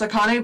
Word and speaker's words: Akane: know because i know it's pronounced akane but there's like one